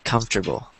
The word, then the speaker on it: comfortable: I just know that in the American dialect of English, we say comfortable.